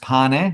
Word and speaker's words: Pane: And by the way, my surname's pronounced Pane. It's bred for Italian, just so you know.